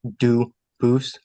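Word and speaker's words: Dubois: They do pronounce it dubis, but you said you pronounce it dus as the original duboose as the original French.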